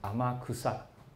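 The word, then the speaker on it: 天草: 天草这两个字呢，念成阿玛库萨，阿玛库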